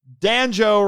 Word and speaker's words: Danjo: So, Danjo rhymes with banjo, is running from Daimajin.